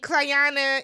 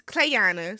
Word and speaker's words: Clayanna: we get there and cayana is clana see Jennifer got me S this girl's name wrong clana is immediately on